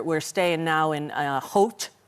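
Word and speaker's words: Howth: So, uh, when we first got here, we're we're staying now in, uh, Hot. Is that how I say it? Hot. Yeah.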